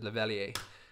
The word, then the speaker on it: lavalier: i always call it lavalier i mean told the correct pronunciation is lavalier because presumably it's a french word all right now we